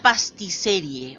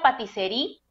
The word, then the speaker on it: Patisserie: ¿Por qué la pastisserie o pastisería? Se pronuncia la patisserie, es Patisería. la traducción de la patisserie, la traducción de pastelería en francés.